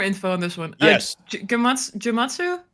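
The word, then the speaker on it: Gematsu: Jamatsu, do you pronounce it that way? Yeah, Gamatsu.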